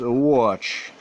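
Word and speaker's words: Łódź: biggest city in Poland, known as Watch, Lodge is how you would pronounce.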